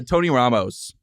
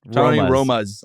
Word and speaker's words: Tony Roma's: Uh Tony Ramos. Tony Roma's. Tony say it wrong every time. Tony Romos. Yes. Not Romo. Not the football player.